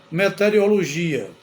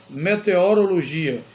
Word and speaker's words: meteorologia: ouve bastante nos telejornais tem gente que pronuncia meterologia meterologia mas não é é meteorologia a pronúncia é meteorologia que é exatamente o